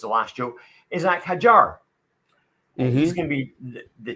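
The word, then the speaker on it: Isack Hadjar: Well, pronounce his name correctly, seeing as how it's the last show, Isaac Hadjar.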